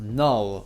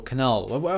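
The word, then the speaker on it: Knull: now before going anywhere let's talk about null or Canal how you ever want to pronounce it it's null and he is the god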